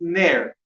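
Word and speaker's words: נר: It's ner. Ner is spelled 2 letters.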